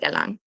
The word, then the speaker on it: Erlangen: It's pronounced Erlangen.